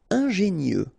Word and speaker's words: ingénieux: Ingénieux. Final X not pronounced, so I-E-U, I-E, nieux.